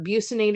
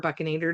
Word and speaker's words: bucinator: Um or buinator or buckanator depending on which teacher you have and how they pronounce it, tomato, tomato. That bucinator mo muscle is going to push that food inwards as you chew.